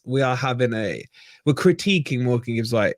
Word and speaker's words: Morgan Gibbs-White: Look, we're not having I guess we are having we're critiquing Morgan Gibbs-White is the right way to say it, but honestly, it is getting frustrating.